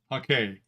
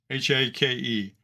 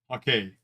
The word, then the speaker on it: hake: okay brush it's a Japanese brush and it's pronounced okay h-a-k-e you'll hear a lot of people call it the hake or a hockey brush but the proper pronunciation is okay and uh it's almost 2 000 years old